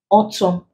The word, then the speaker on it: autumn: column condemn damn awesome in this words the end is not pronounced the N is silent so when letter A